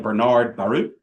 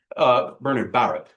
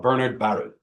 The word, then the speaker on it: Bernard Baruch: Bernard Baruch, I know that it looks like Bernard Baruch. Bernard Baruch is how he pronounced it, how he preferred to pronounce it. He wrote it in his own book. He preferred to be called Bernard Baruch.